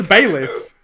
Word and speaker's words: bailiff: how it's pronounced it's bailiff oh really i've actually said it out loud several times it's bailiff i've told you like bay leaf like the like the thing bailiff i know bailiff